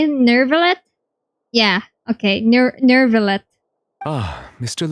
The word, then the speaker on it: Neuvillette: Neuvillette?